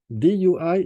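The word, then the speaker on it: 兑: Next, box number 7, DUI is pronounced as Dui.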